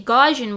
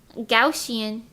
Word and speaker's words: Gaussian: with like gaussian blur I used to say gajan blur cuz I just looked at it and I said that looks like that'd be pronounced as Gan but no gausian gausian I don't know